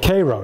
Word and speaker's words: Cairo: this was before uh do we pronounce it Koo or Cairo in Illinois does anybody know Koo Koo yeah so this was before